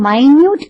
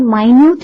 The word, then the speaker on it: minute: Why God was taking minute care? See, I'm reading the word minute and not minute. The spelling of minute and minute is same.